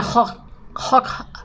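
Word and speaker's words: Hooch: Se escribe Hoch, pero en la CH en alemán se aspira, será Peter de Hoch.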